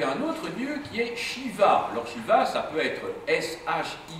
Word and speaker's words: Shiva: Et vous avez un autre lieu qui est Shiva. L'orchiva, ça peut être SH Ia, ça peut être CDI VA. Enfin, vous voyez, il y a plusieurs transcription possible mais ça se prononce Shiva en toute hypothèse.